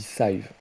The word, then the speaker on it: Scythe: Il me semble que dans la notice, c'est marqué que ça se dit Scythe.